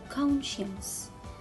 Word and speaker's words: conscience: rid of it and i will read the word without letter c conscience and here the word